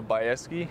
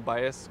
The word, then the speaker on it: Baeske: a lot of money my full name is baeske that's how you pronounce my name everyone says bias or basquisky it's baeske okay so let's hope